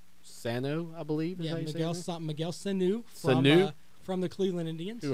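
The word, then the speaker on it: Sanó: Sanu.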